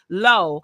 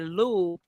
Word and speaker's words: Lo: And see, I would have said that like, I'm glad you said pronounced like low. I would have said Lou because I think Louisiana pronunciation, which is where I'm close to. I think that Louisiana Creole pronunciation, Creole French, and it would be Lou.